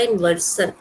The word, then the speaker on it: inversion: This is known as इन्वर्जन, इन्वर्सन, pronunciation इसका इन्वर्सन, इन्वर्जन भी हम बोलते हैं बट इन्वर्सन सा प्रोनाउंस करिएगा।